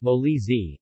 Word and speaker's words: Molise: Molly's a pronounced moley Z is a region of